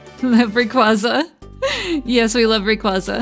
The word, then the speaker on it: Rayquaza: Rayquaza yes we love Rayquaza I think it's technically Quay instead of qua ah I see I